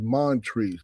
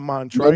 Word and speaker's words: Montrese: he said because it's Montrese. But when you take out the Mon out, it's Trice, bucko. Montrice? It's not Montrice. No, it's Montrese.